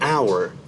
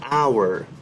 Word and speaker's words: hour: We use an uh before vowel sounds like an apple, an hour. Although this word starts with H, but H is silent and we do not pronounce H here.